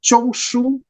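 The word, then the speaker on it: Zhongshu: The D, once again, is pronounced like a T. So Tong, family name. Chong-Shu, his given name.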